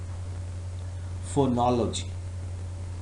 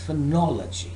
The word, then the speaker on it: phonology: it is possible that some of the students pronounce this word as phonology for knowledge for knowledge but the correct pronunciation of this whereís phonology phonology okay now what is